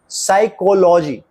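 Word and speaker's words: psychology: pneumonia puff की सूजन आपने देखा कि इन शब्दों के प्रथम अक्षर का शब्द में उच्चारण नहीं होता अब इन शब्दों का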